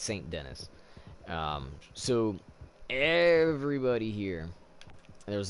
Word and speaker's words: Saint Denis: we're over here in San Denis or Saint Denis Saint Denis however anybody wants to say it San Denis is how they say it in the game you know just went off the tee but it's Saint Denis so everybody here there